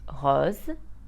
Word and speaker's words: rose: Mass Tas o class but a single s between two vowels will be pronounced Z like in the words Jose Vaz pose or cause now let's have a